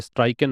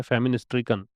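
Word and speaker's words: famine-stricken: फेमिन स्ट्रिकन का मतलब, फेमिन और स्ट्रिकन, इसका प्रोनाउंसिएशन ध्यान रखिए, फेमाइन नहीं है ये, स्ट्राइकन नहीं है, फेमिन स्ट्रिकन।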